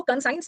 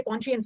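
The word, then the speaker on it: conscious: में है एक तो कॉन्शियस इसको कं साइंस मत पढ़ना ये कं साइंस नहीं है ये कॉन्शियस है अब इसको लिखो अंतरात्मा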